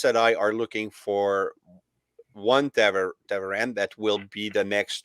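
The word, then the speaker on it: Ta'veren: But then Taveren, you said Tavarin. Taveren is.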